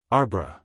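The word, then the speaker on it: arbre: in the same way he was taught to pronounce ape sing and tree arbra he was a most eager student and in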